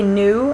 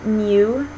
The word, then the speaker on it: new: In British English, it's called palatalized because their tongue is sort of doing a little bit more at the hard palate. So if you say new and then new, tune, tune, do, dew,